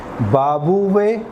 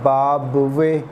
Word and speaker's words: بابویہ: دے رہے ہیں، بابویہ، اور ایک مرتبہ بابویہ، اور اتفاق سے دونوں ہی تلفظ صحیح ہیں۔ چاہے کوئی شخص ان کو علی ابن بابویہ پڑھے یا ان کو علی ابن بابویہ پڑھے، دونوں تلفظ ان کے صحیح ہیں۔ یہ ان کے جد